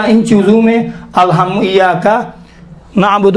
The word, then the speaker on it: نعبد: یہ تلفظ کرتے ہیں، نعبدو نہیں ہے، اعبد نعبد متکلم الغیر کا صیغہ ہے، نعبد ہم آپ کی عبادت کرتے ہیں۔ دیکھیں نعبدو ہے، دو نہیں ہے، دو میں واو اشباہ ہوتا ہے، یہاں واو ہی نہیں ہے۔ حرکات کوتا میں سے